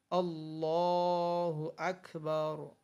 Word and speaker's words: আল্লাহু আকবার: আল্লাহু আকবার এবং আল্লাহু এবং আকবার শব্দ দুটোর আলিফে জোর দিয়ে উচ্চারণ করা এবং হাকে সামান্য টানের আভাস দিয়ে উচ্চারণ করা উত্তম। যেমন আল্লাহু আকবার।